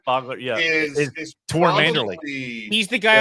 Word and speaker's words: Fogler: Fogler, yeah.